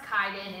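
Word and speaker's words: Kiden: So, like I said, it's pronounced Kaiden.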